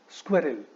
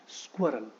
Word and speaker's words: squirrel: सो एल से पहले एक ई है और स्ट्रेस वहां पे दे देते हैं जो कि गलत हो जाता है. सो आई सी students pronounce this word as स्क्वेरल. स्क्वेरल इज नॉट the right pronunciation of this word. स्क्वेरल सही प्रोनाउंसिएशन नहीं हुआ. इस वर्ड का सही प्रोनाउंसिएशन एक्चुअली होता है स्क्वेरल. So it is squirrel, not squirrel. So it is squirrel.